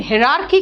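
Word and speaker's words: hierarchy: HIAR इसको pronunciation कहते हैं हियर नहीं एयर, लेकिन हिरार्की कहेंगे, यहां पे H प्रोनाउंसिएशन होगा।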